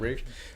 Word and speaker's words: Ralph: You've got Ralph Fiennes or Rafe, I think is how it's said. Rafe.